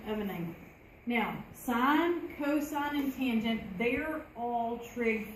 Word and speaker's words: cosine: We say cosine. We abbreviate the word, not the pronunciation.